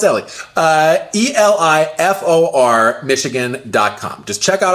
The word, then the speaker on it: Eli: Remember, it's spelled Eli, but pronounced Ellie.